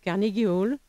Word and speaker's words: Carnegie Hall: scènes du monde, la Scala de Milan, le Carnegie Hall, c'est comme ça qu'on prononce à New York? Oui, Carnegie Hall.